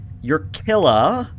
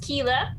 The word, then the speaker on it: Keela: You're Killa. You're Thur, and you are Solaris." Close enough. Yeah. Oh, did I get it wrong? Well, I'm actually pronounced Keela, but I like Killa for tonight.